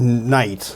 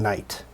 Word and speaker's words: knight: All right, so when the word night, let's see, somebody thought that this is a good way to spell the word night. And it's not because they just imagine there's a K and, like, I'm feeling like a GH today.